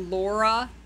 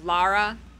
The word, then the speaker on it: Lara: recent games Don't They isn't it Lara it's not Laura it's like Lara Lara I think is yeah like la like lahi it's like L combine lahi and graa it's Lara there you go with